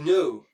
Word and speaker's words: know: Donc, savoir, c'est to know. Comme quand vous dites I don't know. Et pas know. Le K ne se prononce pas.